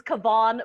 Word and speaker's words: Kuovonne: My name is Kuovonne. That's Kuovonne with the K. It sounds like Yvonne, and it has a silent E at the end.